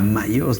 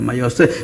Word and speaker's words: Mailhos: Mayos, Mayos, ça s'écrit M-A-I-2-L-O-S. Ah non, je voulais te dire, parce que j'avais vu, c'est ILH, alors je précise. J'ai jamais su où mettre le H. ILH, c'est le lieu occitan.